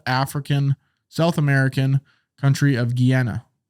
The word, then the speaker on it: Guyana: American country of Guiana is that how you pronounce that it's guy Ayanna yeah Guyana yeah okay let's go with that Jana where's Guyana I don't know Guiana there's Guinea a New Guinea I don't know either might be making that up how's it spelled uh you want me to just throw something at you what on here yeah no you pronounce it right Guyana oh okay